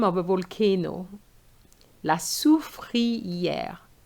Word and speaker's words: soufrière: La soufrière. Okay, so here you have OU, the sound OU, then free, then air.